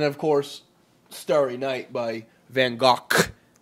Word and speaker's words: Van Gogh: And, of course, Starry Night by Van Gogh. It's Not Van Gogh. Gogh. No. Dutch. Proper pronunciation. I researched it 1,000 times because I argued with my ex about this. Gogh.